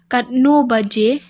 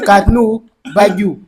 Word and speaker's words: Katno baje: katnu baju. You are wrong. It's you repeat. Katno Baje.